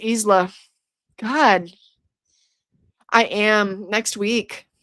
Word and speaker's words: Isla: It's pronounced Isla.